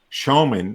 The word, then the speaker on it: Schoeman: Showman, which is spelled Schoeman.